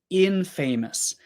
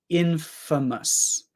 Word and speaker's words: infamous: one is interesting because famous famous is famous but this is not Infamous this one is Infamous um to be Infamous